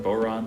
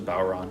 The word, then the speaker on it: bodhrán: traditional music within ireland there are regional pronunciation differences ranging from boron to bauron depending on where you're from the meaning of its